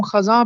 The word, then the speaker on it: خزاں: زبر ہے، موسم خزاں، خزاں کو ہم خزاں پڑھتے ہیں خے پر زبر کے ساتھ، تو درست لفظ ہوگا موسم خزاں۔ اردو شاعری میں سب